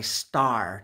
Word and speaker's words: Star: are Python they are made by star just like the Sun is a star that is how these are pronounced star boots they're made